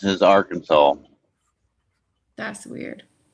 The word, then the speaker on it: Arkansas: Arkansas. Arkansas. Our Kansas. Hey, Papa Smurf. Welcome in. That's what I said. I never heard of our Kansas.